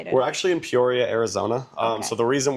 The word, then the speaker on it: Peoria: In Poria. That's how you say it. I got to get the pronunciation right.